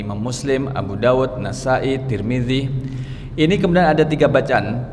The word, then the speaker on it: Tirmidzi: Turmudzi, tarmizzi, Tirmidzi.